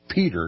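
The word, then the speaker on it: Petre: tins Norfolk's and arendelle's the Petra family pronounced Peter excuse me pronounced Peter was highly esteemed by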